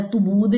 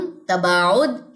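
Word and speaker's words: تباعد: तबूद नहीं पढ़ना। तसूदुम नहीं पढ़ना। तसादुम, तबाउद, एहतजाज और एहतकाक।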